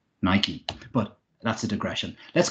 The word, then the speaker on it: Nike: Greek an Endon e have the e pronounced Nike apostrophe catastrophe you know